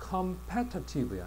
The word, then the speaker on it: competitive: 그다음에 competitive야. 이제는 강세가 어디가 있어? 강세가 뒤에가 있어. 이때는 패라고 발음해야 돼.